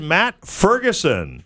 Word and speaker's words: Matt Ferguson: Friday at 420 is the lovely and talented Matt Ferguson. Thanks for having me. It's a pleasure to be here. Did I pronounce that correctly?